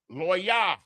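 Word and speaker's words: לוי: Levi is the way that the English translated it. Levi, but it's Loya.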